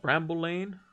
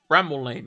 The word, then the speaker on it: Bramall Lane: Bramall Lane, or is it Bramble Lane? Bramble Lane? Bramall Lane? Bramall Lane, yes. I did get it right. It's not spelled the way I thought it was, but I did get the pronunciation correct.